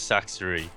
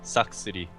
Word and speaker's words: Sacsri: my Insanity it is saxer or to have it pronounced properly SX City wow dude I uh